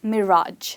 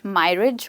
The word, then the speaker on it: mirage: So here we have the next word which is pronounced as Mirage, not myrige or migraine. No, it's mirage, the stress is on the word rage.